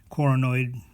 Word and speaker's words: coronoid: be confused with coronoid coronoid rhymes with paranoid and it's in your